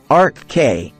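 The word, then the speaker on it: Arkhé: lovers number one RK first of all it's pronounced Arc K and second of all yes you need to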